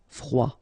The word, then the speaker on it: froid: Final D not pronounced. Froid.